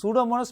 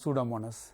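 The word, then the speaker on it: Pseudomonas: பசிலஸ் agro bacterium சூடோமோனஸ் இந்த சூடோமோனஸ் spelling கொஞ்சம் உச்சரிக்கிறது கொஞ்சம் கஷ்டமா இருக்கும் பார்த்து வைங்க இந்த பி வந்து சைலெண்ட்டா இருக்கு சரியா இந்த இயும் வந்து சைலெண்ட் மாதிரிதான அப்ப அந்த வடிவா பார்த்துக்கோங்க சூடோமோனஸ் இந்த மோனஸ் என்றதுல வேற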